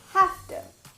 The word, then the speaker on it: have to: The next example is have to. So now this one is definitely going to sound like instead of have and to, but it's pronounced with an F.